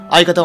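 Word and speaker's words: 相方: これ相方って読むらしいな。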